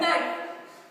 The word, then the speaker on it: knife: Knife. K-N-I-F-E. But the K is silent.